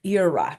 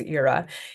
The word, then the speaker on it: ira: them so the next on our list is Ira that's that's how it's pronounced is Ira if you come study Latin um you will